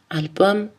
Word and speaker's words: album: empruntés par exemple ou latins on prononce le m maximum album aquarium par les mots étrangers